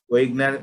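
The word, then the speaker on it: Wegener: Medial large vessel vasculitis আছে, medium vessel যেগুলো আছে, স্মল ভেসেল ডিজিজ গুলোর মধ্যে ওয়েগনার বা ভেগেনার, কেউ কেউ এটাকে ভেগেনার উচ্চারণ করে, ভেগেনার বা ওয়েগনার গ্রানুলোমাটোসিস বলে।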